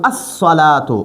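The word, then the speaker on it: الصلاة: الف لام ولګو خو دا لام په تلفظ کې نه ویل کېږي. موږ به دا وایو الصلاتو، الصلاتو معنی دا منز.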